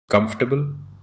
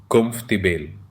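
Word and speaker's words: comfortable: Slide में चार commonly मिसप्रोनाउंस्ड words दिए गए हैं और उनका correct pronunciation कंफर्टेबल कुंफ तिबेल schedule स्ेड्यूल schedule colonel colonel Wednesday Wednesday. ये एग्जांपल्स बताते हैं कि साइलेंट लेटर्स और साउंड रूल्स इंग्लिश में कितने डिफरेंट होते हैं।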